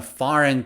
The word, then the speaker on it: foreign: example is farin fahren again g is silent here fahren he is from a foreign country foreign he's a